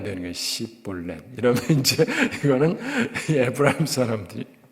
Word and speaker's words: 쉽볼렛: 하는 것은 강 또는 가라고 하는 뜻입니다 그 발음해 봐라 그래서 쉽볼렛 이렇게 하면 괜찮은데 그러지 못하고 십넷 이러면 왔다 이런 얘기예요 제가 예전에 서울에서 대학교